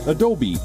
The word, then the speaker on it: Adobe: The correct pronunciation is Adobe.